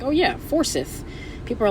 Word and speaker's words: Forsyth: For the first year that I moved to Georgia, I was pronouncing Forsyth County, Georgia, as Forsyth, because it's Forsyth, and I'm like, oh yeah, Forsyth.